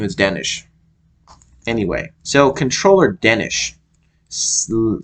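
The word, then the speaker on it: Denes: his name as uh as if there was an H at the end they were all saying Danish Danish so I guess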